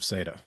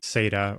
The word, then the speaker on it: SATA: There was always a debate among like hardware junkies who use SATA devices, whether or not it's pronounced SATA or SATA. I prefer SATA, but it sounds like the team's going with SATA.